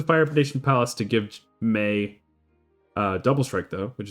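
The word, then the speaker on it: Mai: You play my or may. What is her name supposed to be? Feel like I used to know. Um. Oh, it's pronounced May, like rhymes with hey Oh, this is like a whole rabbit hole.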